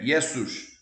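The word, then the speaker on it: Ἰησοῦς: falar do Jesus grego Jesus grego é yesus se fosse Yes sua seria uma mulher seria uma aberração dizer isso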